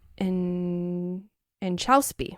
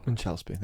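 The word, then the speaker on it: Inchauspé: How do you pronounce her last name? I forget. Inchauspy. Inchauspy. I believe is how you say it.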